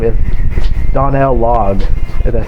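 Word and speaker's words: Donal Logue: time uh i think his boss's name is donnell logged and that's how you pronounce his name and he's like a really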